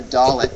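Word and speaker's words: dalet: alphabet and that's the dollet or the D sound in Hebrew the dollet or the D sound in Hebrew d as in day uh this particular letter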